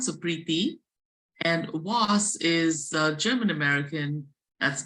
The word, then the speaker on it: Preeti: It's uh spelled P ree ti but pronounced with a th h sound. So, prii and was German American.